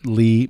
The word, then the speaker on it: Lea: It's spelled Lea for Lee. People say, is that Leah? I say, I don't know. Do you drink Tia? So it's just like tea, but Lee.